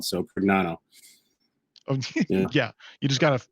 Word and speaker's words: Prignano: Actually, in Italian, because the G in the end, it's pronounced like lasagna. So Prignano.